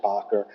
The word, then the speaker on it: Baker: It's written Baker but pronounced Ber and through um special agent Martinez who also gave testimony regarding on cross-examination regarding the defendant's financial situation.